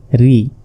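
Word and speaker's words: رِ: এরপর র জের ঋ অনেকে রুই বলে আসলে র জের ঋ তারপর জা জের জি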